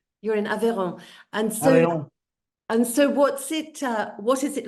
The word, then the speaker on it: Aveyron: Aveyron. You're in Aveyron.